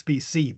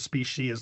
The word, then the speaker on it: species: it and read it I would read it as specy but it's the the dictionary says species is the preferred pronunci is the normal pronunciation but I don't I'm